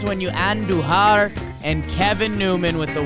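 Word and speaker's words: Andújar: the weekend Jack sawinski Miguel andujar roll your r's when you and duhar and Kevin Newman with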